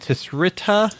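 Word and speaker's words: Tsitra: CSI Mad Max, and Tisrita. Is that how you say it? Citra. 360. The word artist spelled backwards.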